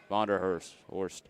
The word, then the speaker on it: Vonderhurst: Academy Granite Falls Louis versus wanderworst vonderhurst yep that's how you say it these on top of